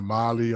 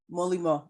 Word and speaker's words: Molimau: People call it Molly or Molly. Yeah, so How do you pronounce? it's How do you pronounce your real name? How do you pronounce it? Molly? No, Molly. Molimo.